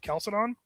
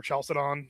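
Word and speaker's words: Chalcedon: So those divisions come at the the council of Calcidon um or Chalcidon um depending on how you want to pronounce that um and which I believe is the third ecumenical council I want to say.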